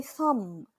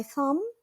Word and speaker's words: thumb: Now I will measure my thumb. My thumb. Pay attention. Letter B is silent. Don't pronounce it. My thumb is my bigger finger.